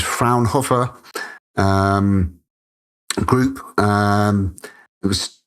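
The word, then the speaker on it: Fraunhofer: is produced by the I believe the pronunciation is frownhopper um group.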